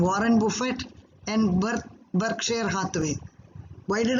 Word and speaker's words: Buffett: Warren बुफे, WARREN BUFFET. T is silent.